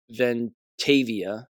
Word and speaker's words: Ventavia: Jackson sued Vent Ventavia, that's how you pronounce it.